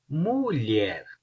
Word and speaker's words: mulher: Primeiro, LH. Lha, lha, lha. Então, colher, colher, colher. Mulher, mulher, mulher.